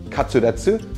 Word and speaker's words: katsu: classic japanese comfort food the word comes from the Japanese pronunciation of cutlet katsuu shortened down to the